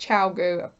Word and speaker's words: ChiaoGoo: Apparently ChiaoGoo it's pronounced ChiaoGoo.